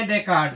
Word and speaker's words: Descartes: Renee डेकार्ड ने, ठीक है ना, रेने डेकार्ड, DESCARTES। देखो यहाँ पे एस है ना, साइलेंट है, एस को साइलेंट कर दिया गया है, ठीक है ना।